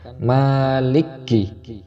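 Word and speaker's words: مَالِكِ: Terkadang ada yang melafalkan maliki, terdapat tasdid, padahal di sini tidak ada tasdidnya. Kita baca biasa saja.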